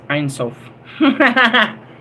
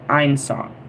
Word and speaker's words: Ein Sof: Ein Sof. Ein Sof. I don't know. IENSOF. How do you guys pronounce that? Well, I'm saying Ein because that's how we started Einstein. And then Sof.